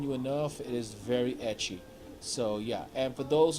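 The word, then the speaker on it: エッチ: So they shorten it to ecchi, which is how they pronounce H.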